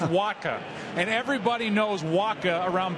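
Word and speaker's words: Wacha: St Louis by mid-september you didn't even know how to pronounce his name it's pronounced Waka and everybody knows Waka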